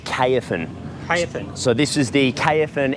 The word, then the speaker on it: Caofen: so how do you pronounce that that is pronounced KFAN so this is the kfn f80 trail bike